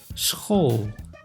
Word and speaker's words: school: S plus C plus H, SCH, makes sch, like in school.